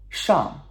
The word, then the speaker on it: 上: 上, okay? 上. S-H-A-N-G, fourth tone, descending tone, okay? 上.